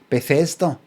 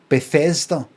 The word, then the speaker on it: Bethesda: it Bethesda Bethesda but how'd you say that again Bethesda Bethesda Bethesda emphasis on The Fez before pocket since the